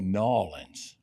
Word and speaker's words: New Orleans: And she said, "Well, excuse me, sir, but down here we say Norins."